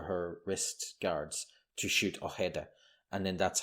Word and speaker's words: Ojeda: gets beaten up by Ojeda. Actually, that wasn't too bad. That was good. I was going to say Ojeda as it's spelled, but Ojeda.